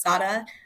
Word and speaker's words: Sara: color is green and I'm Puerto Rican so that's why my name is pronounced Sada um so first off